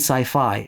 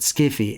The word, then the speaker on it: sci-fi: S-f pronounced SF and sci-fi rhyming with its model hi-fi.